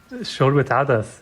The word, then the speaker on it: shorbat adas: Tell us about Shobat Adas. Is that how you pronounce it? Shobat Adas, yeah.